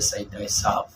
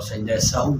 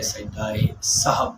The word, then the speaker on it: سجدہ سہو: جاتا ہے۔ سجدہ سہو کا صحیح تلفظ یہی ہے، سجدہ سہو۔ بعض اوقات خواتین بیویاں بچوں کو پڑھاتی ہیں اور سجدہ سہو کہتی ہیں، یہ تلفظ غلط ہے، سجدہ سہو اصل میں ہے، یعنی بھول جانے کا